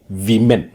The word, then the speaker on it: women: സ്ത്രീ, വനിത, സിംഗുലർ ആണെങ്കിൽ വുമൺ, plural ആണെങ്കിൽ ഉച്ചാരണം വിമൻ, WOMEN. ഇത് AN ആണ്, വുമൺ, പ്ലൂരൽ വിമൻ.